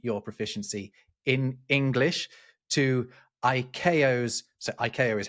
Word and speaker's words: ICAO: It comes It's really annoying that it's a four-letter thing, ICAO, but they've pronounced it IO, which just sounds like three other letters, which seems kind of right.